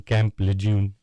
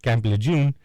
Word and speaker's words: Camp Lejeune: Please excuse me if I am pronouncing Camp Lejeune incorrectly. I think that's right. I know people who've actually been there. If it's a training camp, it's like the training camp that, what is it, the Marine? Everybody from the Marines starts out there? Yeah. Yeah, it's a Marine training camp. My roommate was there, so I think you're saying it right.